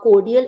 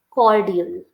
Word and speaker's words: cordial: for me yeah sure cordial no you are stressing o quite a lot you don't have to stress on o so much it is not cordial it's cordial cordal Rel there is